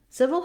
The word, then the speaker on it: civil: all looking at civil civil has first syllable stress letter c says the s sound and let the first letter i says an e sound so it's just like in the word sit or sip uh but with a